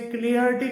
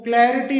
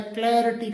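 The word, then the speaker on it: clarity: इसे क्लिटी करके बोल दिया जाता है। जबकि इसका सही जो प्रोनंसिएशन होता है वो क्लेरिटी होता है। क्लेरिटी करके इस प्रकार से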